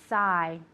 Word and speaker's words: sigh: Okay, so to sigh. All right, the GH is silent.